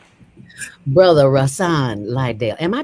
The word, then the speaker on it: Rahsaan Liddell: My brother, brother Rasan Lidell. Am I pronouncing that right?